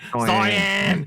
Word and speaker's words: Zion: Zion. Zion. That's his girlfriend, everyone, by the way. Zion. It's like Diane, but Zion.